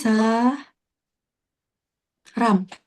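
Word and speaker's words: 사람: Bacanya eh sa eh sa ya? Betul. Sa ram. He. Oke. Saram ya.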